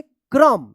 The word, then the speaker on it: क्रम: तो क के साथ इसका उच्चारण होगा। आधा क और पूरा र का उच्चारण होगा। क्या पढ़ेंगे? क्र पढ़ेंगे। क्र और म क्या पढ़ेंगे? क्रम। क्रम।